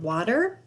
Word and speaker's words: water: It sounds like an O. What, water. Sometimes I hear the D.